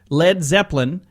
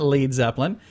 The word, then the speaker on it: Led Zeppelin: Led Zeppelin you know why they changed it to just led why because they had dumb radio announcers pronouncing it wrong coming up now we've got leaves Evelyn they're like no we're not lead Zeppelin the whole point of